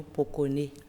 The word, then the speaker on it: Pokoné: le journaliste aujourd'hui nous allons parler du prénom Poconé Poconé Poconé ça s'écrit po k P o k o n